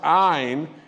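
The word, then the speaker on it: Ayne: And today I am announcing that doctor, and it's pronounced Ayn, spelled A-Y-N-E, Amjad, is taking our position.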